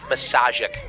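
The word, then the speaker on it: Misiaszek: baseball good friends with this kid uh Nick massic one of the most fun names ever gotten to pronounce m i s i a s z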